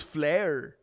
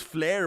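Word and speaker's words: Fliehr: His last name is Flare. It actually is Flare, but it's pron it's spelled F L I E HR.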